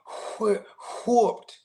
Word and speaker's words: whooped: You gotta say it like Steve Harvey, whooped. You gotta really pronounce that WH.